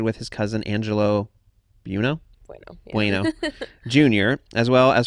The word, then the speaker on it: Buono: Is that how you say it? Bueno. Yeah.